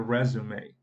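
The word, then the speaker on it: résumé: Mas aí muda a pronúncia. Currículo seria resume. Resume. Em alguns casos vem até acentuado, porque é uma palavra da língua francesa.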